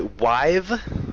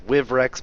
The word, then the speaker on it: Wivrex: A lot of people call me Wive or Wivrex, which is fine. I think the correct pronunciation is Wivrex, but you know, whatever you feel like, man.